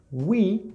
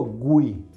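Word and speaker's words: we: tercera persona del plural uy significa nosotros uy ok no es will con g no pero no digo uy verdad es muy redondeo mis labios y aproximó la lengua will wright qué significa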